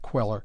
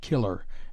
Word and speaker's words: Queller: Pettin, or the life of Jack the Giant Queller. not killer as usually erroneously written and pronounced.